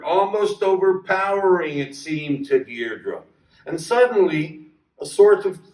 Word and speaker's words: Deirdre: "Deirdre?" Her heart gave a leap, and then stood still. Only one person had ever spoken her name like that, with the faint stress on the first syllable that made of it a caress.